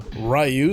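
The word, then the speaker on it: Ryu: Even though you can beat him pretty easily, you know, especially if you're using I'll call him Rayu since that's how they say his name in this one from the announcer.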